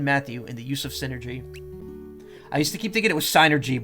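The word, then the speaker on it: Psynergy: game and they i remember them calling it synergy like the person uh representing nintendo called it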